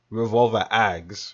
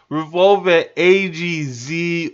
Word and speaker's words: Revolver X: it's my fault but you guys know it's pronounced revolver x right because a lot of you guys say revolver a-g-z or a-g-z and that's probably because you don't know how to pronounce x now that is okay